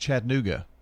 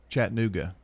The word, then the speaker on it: Chattanooga: It's pronounced Chattanooga. Chattanooga, not Chattanooga. You leave the A out, apparently.